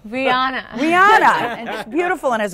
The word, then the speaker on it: Rihanna: I don't even know what how do you pronounce her name Rihanna Rihanna and just beautiful has a gorgeous but